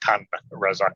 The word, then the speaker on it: Tun Razak: Okay, just for the record, Tun Razak Road is how you pronounce it, mate, okay?